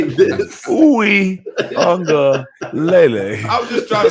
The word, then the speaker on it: Uiagalelei: But it is actually pronounced Uiagalelei. It's messed up, man. I gotta go back to the ghetto. I can't read. Uiagalelei is how you say his name. Uiagalelei. It does sound kind of like ukulele.